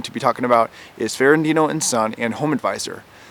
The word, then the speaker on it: Ferrandino: be talking about is fandino and son and Home Advisor I posted the same video not too long ago but wind up deleting it because I was pronouncing fandino as Fernando and Al the audio